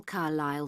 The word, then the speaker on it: Carlisle: Could you spell Carlisle for me? Sorry. It's Carlisle. You don't pronounce the S.